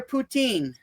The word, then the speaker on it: Putin: Vladimir Putin.